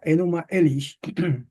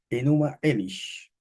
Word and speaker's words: Enuma Elish: se llama el poema enuma elish no sabemos si esa es la acentuación correcta pero más o menos se pronuncia así Bueno pues vamos a